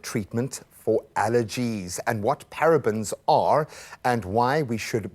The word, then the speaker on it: parabens: the first obvious question parabens am I even saying it right what are parabens and